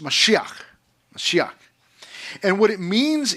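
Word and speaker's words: מָשִׁיחַ: It's pronounced mashiach.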